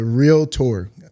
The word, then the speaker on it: realtor: make my heart glad when you say it the right way with only two syllables i feel like my day is going to be complete one day on the earth when people finally stop putting a uh in the middle but i'm a 21